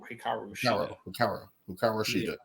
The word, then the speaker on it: Hikaru Shida: we can get into Toni Storm first and Hiraku Shida. Shida. Hikaru, but Hikaru Shida. You gotta say it like 10 times. Hikaru Shida.